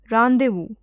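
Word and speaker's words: rendezvous: off making it explode payload means equipment randu pronounced as randevu means meeting place page 83 Mr Data I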